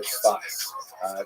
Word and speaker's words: Tzfas: And that is the incredible explosion of spiritual and literary religious activity that occurred in the northern Israel city of Safed, pronounced in Hebrew Tzfat or Tzfas.